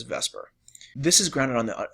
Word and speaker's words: VSEPR: shell electron pair repulsion it kind of looks like it should be pronounced veseper but everyone just says Vesper this is grounded on